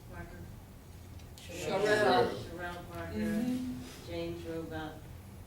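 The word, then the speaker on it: Cherelle: Jordan Harris, Vincent Hughes, how do you pronounce her name? Parker? Sherelle.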